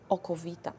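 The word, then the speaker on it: okowita: So we also start to call it aqua vita, from Latin, water of life, or how Polish people would pronounce that, oko vita.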